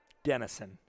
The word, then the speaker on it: Dennison: Dennison. It's spelled D-I, but it's pronounced more with D-E.